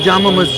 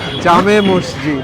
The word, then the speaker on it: Jama Masjid: That's the one of the largest and oldest mosque in Asia, called Jama Masjid. Jama Masjid. We called in Bangla Jame Masjid.